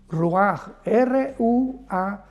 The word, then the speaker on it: ruach: Y es importante porque la palabra viento es la palabra ruach, R-U-A-C-H, la CH en hebreo se pronuncia como una J, ruach, que significa espíritus.